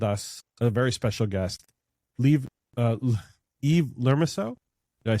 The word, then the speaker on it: Yves Lermusiaux: We have up with us a very special guest, Yves Lermusiaux.